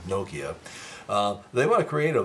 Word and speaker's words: Nokia: It's not Nokia, it's Nokia. It's like Tokyo, Nokia.